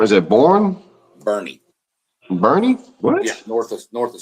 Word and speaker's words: Boerne: Well, so Randall's got Bourne. Is it Bourne? Bernie. Bernie? What? Yeah, north of San Antonio. Bernie. That's how you pronounce it? Bernie? Yeah. Boerne? Yes, it's Bernie.